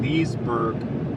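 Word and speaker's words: Leasburg: This is called Leesburg, but it's spelled differently than the Leesburg in Florida. It's spelled L-E-A-S-burg instead of L-E-E-S-burg. But it would be, the pronunciation would be like exactly the same.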